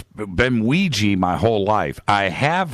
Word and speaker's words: Ouija: okay let's start here Ouiji or Ouija that's the question well it was originally made to be pronounced Ouija however because because we've been saying in our po pop culture for so long as Ouija it's acceptable now as part of our lexicon to say Ouija you'll probably hear me